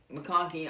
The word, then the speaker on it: McConkey: for the Georgia Bulldogs number one lad McConkey McConkey I believe is how you say his name